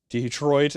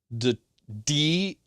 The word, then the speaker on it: Detroit: Detroit is perfectly acceptable. Just don't call it Detroit. Detroit. Over pronouncing the first part of it.